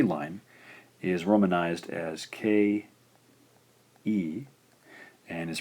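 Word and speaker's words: け: The fourth syllable in the K line is romanized as K. E and is pronounced ke.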